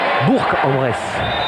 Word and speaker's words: Bourg-en-Bresse: Bourg-en-Bresse. Il faut prononcer le G, sinon on va se faire gronder.